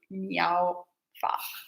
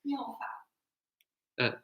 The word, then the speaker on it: Miao Fa: This is really cute, Miao Fa, but which is not pronounced like that.